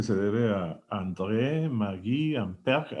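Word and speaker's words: Ampère: debe a Andre Mag amper así se pronuncia en francés verdad todo todo gutural amper que fue el que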